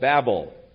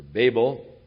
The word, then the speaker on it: Babel: Therefore its name was called Babel, or Babel, whichever pronunciation you prefer.